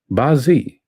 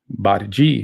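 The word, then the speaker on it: 八字: Bazi pronounced baji in Cantonese and bazi in Mandarin means eight characters.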